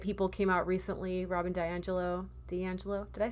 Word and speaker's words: DiAngelo: Robin DiAngelo. Did I say her name right? DiAngelo.